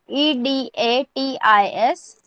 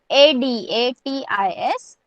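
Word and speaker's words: अडतीस: 38 EDATIS और sorry ADATIS 38.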